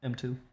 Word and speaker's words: M2U: M2. Two. But where's how do you pronounce the U? Just It's M2. the ooh. It's a silent U, bro. Just the ooh.